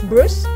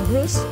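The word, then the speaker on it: Bruges: to go to bruce they pronounce it as bruce it's b-r-u-g-e-s did i pronounce it right it's bruce okay so i wanted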